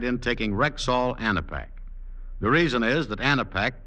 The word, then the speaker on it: Anapac: It's spelled A-N-A-P-A-C, Anapac, and you'll find it at every Rexall drugstore.